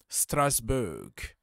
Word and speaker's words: Strasbourg: club to the family Strasbourg or strasbour that's how we pronounce it so welcome to